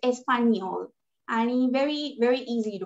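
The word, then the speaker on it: Español: Only the N is like N sound. So it's Espanol.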